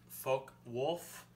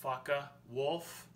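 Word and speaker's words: Focke-Wulf: the german fw 190 the fw stands for folk wolf i've heard faka wolf i heard a bunch of different pronunciations throughout the years so i'm not really sure exactly what it is but uh it's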